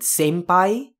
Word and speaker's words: senpai: stuff out in english it's usually pronounced more as an m sound so inai in p.o it's similar to what happens if you know the japanese word senpai that it's usually spelt